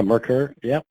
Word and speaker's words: Merkur: would fit into the next generation, is that Merkur? Is that how you say it? Yeah, Merkur.